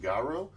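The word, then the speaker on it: Garou: a guy i think i'm not sure if i'm saying it right obviously but i think it's pronounced garrow and um he he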